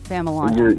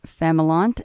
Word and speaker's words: Familant: All the times that I've seen your name, for some reason I want to say Familant, but it's adding an I there that is not there. So yeah, Familant makes a lot more sense.